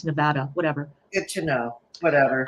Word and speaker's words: Nevada: Nevada Nevada I say Nevada because Nevada in um Nevada in Spanish means snowfall so I always assumed that that's how you pronounced it but apparently it's Nevada whatever good to know